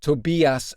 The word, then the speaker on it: Tobias: I still don't know much about Tobias, other than the fact that you pronounce his name Tobias Forge in his native Swedish.